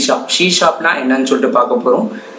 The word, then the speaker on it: C#: ஷீ ஷாப்னா என்னன்னு சொல்லிட்டு பார்க்கலாம். ஷீ ஆஸ்டிக்கை வந்து எப்படி ப்ரொனவுன்ஸ் பண்ணுவாங்கன்னா ஷீ ஷாப்னு ப்ரொனவுன்ஸ் பண்ணுவாங்க. ஷீ ஷாப்புங்கிறது object oriented programming language.